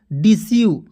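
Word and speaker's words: deceive: क्या पढ़ेंगे डी सव क्योंकि ई आई आ बीच में किसी भी वर्ड में बीच में आया क्या इ आई आया तो इसका उच्चारण जो है मतलब कि बड़ी की मात्रा के रूप में करेंगे तो डिसीव पढ़ेंगे ठीक है दोस्त उसके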